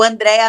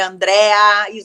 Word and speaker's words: Andréa: aí deixa seus canais o André não tem ir é Andréa André mudo que às